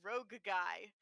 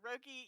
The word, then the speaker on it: Rogie: Yeah, Rogie, or as one article about Wintermoor erroneously put it, it's pronounced Rogue Guy, which it's not pronounced